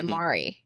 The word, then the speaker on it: Mari: Well, so I've always gone by Mari. Like my like M A R I. That's really hard to pronounce for everyone in the US.